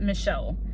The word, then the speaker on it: Michal: I think it's just, you say it Michal, but it's spelled differently.